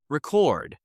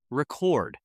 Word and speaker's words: record: Say the word with exaggerated stress. Record, the noun. Record, the verb. Present, the noun or adjective. Present, the verb.